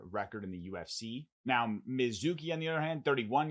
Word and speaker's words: Mizuki: And that fight is between Jacqueline Amorim versus Mizuki, not Suzuki, but Mizuki in Inoue.